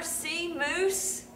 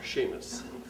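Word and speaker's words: Seamus: right on it father C moose that's pronounced father Sheamus have a SE going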